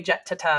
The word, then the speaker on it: Jetteta: I say Jetteta because it's spelled with 2 T's.